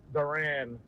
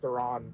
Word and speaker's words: Duran: Yeah, it was Johan Duran, and then we had all these Duran jokes, and then it was actually, no, it's Duran, and also his first name is Johan Duran, and now it's Ariz,